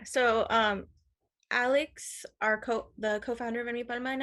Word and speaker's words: Enmipalma: Was it Impalma? I'm probably butchering it, but how do you say it? um, it's Enmipalma.